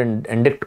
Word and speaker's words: indict: Sir, when you charge someone, at that time we use this word indict or indict, whatever you want. Actually, the pronunciation is indict.